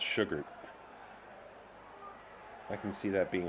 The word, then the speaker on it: Shugart: Been saying on the broadcast is pronounced Sugart.